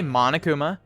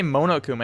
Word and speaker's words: Monokuma: right they say monokuma even though even though that's the thing where you say monokuma it's monokuma there's no american accent thing there you're saying it wrong right and then they